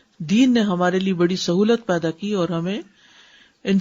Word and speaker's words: سہو: کا فعل بھی ہے۔ سہو ہوتا ہے، سہو نہیں ہوتا۔ سب لوگ اپنا تلفظ بھی درست کر لیں۔ سہو جیسے لغو، ٹھیک ہے، کرب، نفس، سہو۔ سجدہ سہو کے اسباب،